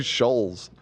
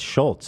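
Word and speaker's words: Schulz: name after the Schultz they're saying his name wrong she was saying Shoals yeah no it's Schultz I believe that's what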